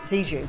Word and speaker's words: Zhejiang: was out there in, I always say it, Zhejiang, is that how you say it? Zhejiang province, yes, thank you, and you, but if